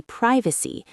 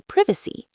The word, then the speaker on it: privacy: Same with privacy. Americans say privacy. British say privacy.